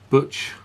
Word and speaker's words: Cwtch: It's pronounced butch.